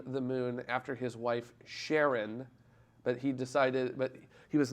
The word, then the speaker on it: Charon: know there's a huge debate over how to pronounce the name of Pluto's moon, and I know a lot of people, I've heard Charon, Karen, and a whole bunch of other stuff, but I say Sharon because the guy who discovered it originally wanted